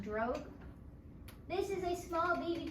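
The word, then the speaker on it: drogue: the drug parachute so this word d-r-o-g-u-e it's pronounced drug this is a small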